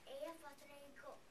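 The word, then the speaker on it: Eyjafjallajökull: It is pronounced Eyafjallajokull.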